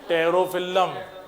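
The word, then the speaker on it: Pterophyllum: बेटा का मतलब फाइटिंग फिश, दूसरा एंजल, एंजल का मतलब टेरोफिल्लम, पी साइलेंट रहेगा ना, टेरोफिल्लम।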